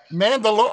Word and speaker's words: Mandalorian: What, Mandalorian? Mandalorian. Oh, like DeLorean from Back to the Future.